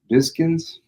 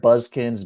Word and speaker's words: Biskins: Biskins. Okay. I've heard Buzzkins, Bizkins. But I'm pretty sure it's Biskins. Okay.